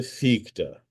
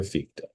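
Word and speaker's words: Fichte: Let me now turn to Fika. Again the name is spelled f i c h t the philosopher ficta.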